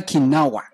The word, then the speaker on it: Kinawa: Stella Kinawa. Mm. I say it right? Yes, you did.